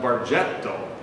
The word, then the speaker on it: Bargetto: It wasn't until my father went to Santa Clara and had a professor named Bacigalupi who called him Bargetto, and he tried to correct the professor by saying, "No, sir, our name is Bargetto." Professor Bacigalupi said, "No, Mr. Bargetto, your name is pronounced Bargetto." And so we finally got to the proper pronunciation, and this accent over